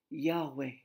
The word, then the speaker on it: Yahweh: If we lived in Moses' day, we would pronounce that name Yahweh, which means God is.